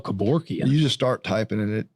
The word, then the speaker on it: Kevorkian: Was that Kevorkian?